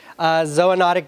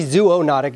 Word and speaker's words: zoonotic: going to talk about ZOA notic disease and yeah that's the right way to say it it's not zoonotic disease how many O's there's two it can't be Zuo notic disease so you could say